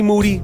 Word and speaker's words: Moody: Moody, last name rhymes with Duty.